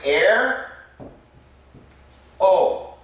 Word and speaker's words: aero: I was really surprised basically this sounds like air o air o Arrow Arrow it has a very a sound this sounds like Arrow Arrow which is a short a and short a we write it like